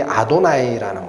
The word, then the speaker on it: 아도나이: 그 주라는 이름이 아도나이라는 거예요. 아도나이. 이런 글자를 구약 성경에서 읽을 때 여호와라고 안 읽어요. 이스라엘 사람들은 뭐라고 읽어요? 아도나이, 주라고 읽어요.